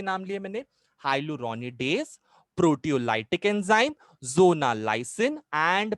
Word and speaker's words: hyaluronidase: The first hydrolytic enzyme is called as हाइलुरोनिडेज। हाइलुरोनिडेज, हाइलुरोनिडेज का spelling क्या है?